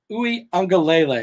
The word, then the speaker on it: Uiagalelei: Clemson's quarterback, Uiagalelei, and I'm working on my pronunciation for that. Uiagalelei, there we go.